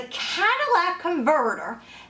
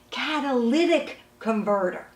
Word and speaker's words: catalytic converter: had often people say to me what's a Cadillac converter and why is this so expensive hi I'm at nipples on a service centre actually pronounced catalytic converter it serves as an important part of your